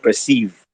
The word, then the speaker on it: Perseeve: And fortunately, the the merger of those two words then means sorry, sounds like the word perceive, which is the actual pronunciation, right?